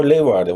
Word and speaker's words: Leeuwarden: saw Horn, and I'm going to mispronounce this. Is it Leeuwarden? Oh, Leeuwarden, Hoorn and Leeuwarden.